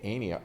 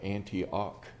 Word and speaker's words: Antioch: And we pronounce it Antioch, not Antioch. It's Antioch, Lower Antioch.